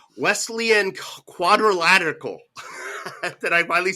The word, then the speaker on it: Wesleyan quadrilateral: I I had it all ready to say Wesleyan quadrilateral did I finally say it right uh where it's the four can you say it the Wesleyan quadrilateral thank you the westle I still can't forget